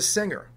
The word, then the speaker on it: singer: finger okay but what's this that is a singer this is not a finger and a that's not a singer why do we pronounce the word finger with a hard G